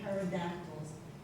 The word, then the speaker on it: pterodactyls: And it does sound like a Z at the end of pterodactyls.